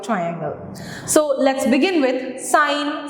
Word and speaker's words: sine: the names so the first trigonometric ratio is sine and on the other side on the right